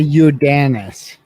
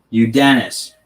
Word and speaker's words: Yordenis: his first name ugas it's uh you dennis you dennis okay there we go